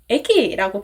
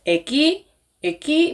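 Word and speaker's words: 駅: 예를 들어서 역은 에기라고 발음을 하는데요. 이렇게 악센트의 핵이 에에 있어요. 그래서 에가 높죠? 이렇게 발음하는 게 맞는데 예를 들어서 에기 뭐 이렇게 하면은 일본인 귀에는 이게 뭐지? 뭐 사투리처럼 들릴 수도 있고 좀 어색하게 들릴 수 있다는 거죠.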